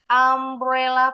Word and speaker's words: umbrella: Contoh kata umbrella ini depannya hurufnya U, tapi bunyanya bukan bunyinya bukan U, tapi bunyinya A. Ambrella pakainya N.